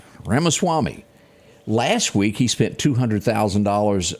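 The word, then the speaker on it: Ramaswamy: likable guy uh Swank how do you say his name Vivic Ram Vivic RMA Swami as this man knows it all over here od's on it RMA Swami last week he spent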